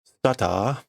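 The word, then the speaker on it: スターター: for the Japanese readers, we get the reminder of how to pronounce starter, which is stata, stata.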